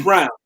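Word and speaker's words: Braun: Christian Bryan Christian Bryan it's brown actually it's listening no it's actually Brown they say I don't know why it's spelled yes it felt like Rome but they said his name brown but anyway that that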